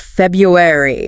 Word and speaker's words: February: And February, which is often pronounced February. Right. The first R often disappears in common speech.